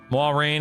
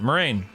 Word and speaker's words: Moiraine: Moiraine is how it should be pronounced. I believe must say Moiraine though. Yeah, Moiraine.